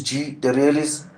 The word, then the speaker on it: GThe Realist: The realist uh the artistic way of it even the name is the art gt h e is one word space realist but you spell it you say like g the realist.